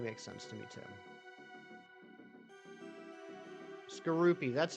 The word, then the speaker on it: Skorupi: Yeah, wait, Skorupi or Skorupi? You don't drap yourself in a blanket, you drape yourself in a blanket. I say Skorupi.